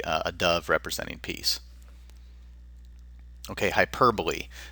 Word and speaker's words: hyperbole: another would be a dove representing piece okay hyperbole not to be confused with hyperb the cor correct pronunciation is hyperbole uh it's basically exaggeration it's an exaggerated statement